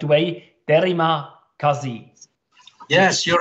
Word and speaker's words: terima kasih: Or hopefully I pronounce it in a correct way, terima kasih. Yes, you're right. Thank you very much. Terima kasih. Terima kasih.